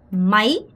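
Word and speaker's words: máy: 여러분 이거 마이 아니고 마이 아가 짧고 Y의 강세. 마이 리세 마이 이렇게 발음하셔야 돼요.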